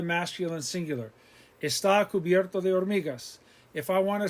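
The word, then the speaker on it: hormigas: vocab water agua ants or migas remember h is silent or migas insects insectos dust polvo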